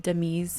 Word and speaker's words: Dei: I'm pretty sure I've said Dei's name wrong. Her name is pronounced Dei.